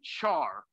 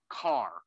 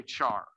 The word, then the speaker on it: char: And again, with the laziness, we usually call that char, but weirdly, we pronounce that normally char, not car. Okay. Even though character, right, it should be car. Normally you say char.